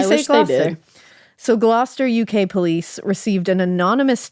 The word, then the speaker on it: Gloucester: Massachusetts has a Gloucester too, and we say it Gloucester, but I was like, do you guys say it Gloucester or something? Gloucester. I I wish they did. So Gloucester, UK police received an